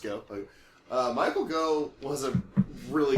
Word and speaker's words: Gough: It actually is just Go.